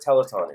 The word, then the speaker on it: telethon: Telethon. Yeah. Telethon. We pronounce it telethon here in the U.S.? Telethon. Oh. Did you not pronounce it telethon? No, teleton. Teleton. I didn't know it was telethon.